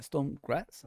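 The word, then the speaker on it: Sturm Graz: Yeah, Storm Graz.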